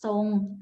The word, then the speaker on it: ทรง: รวม กับ ร เรือ เวลา อาจ จะ ออก เสียง ซอ เช่น ทรง อ่าน ว่า ทรง ตัว อย่าง นะ คะ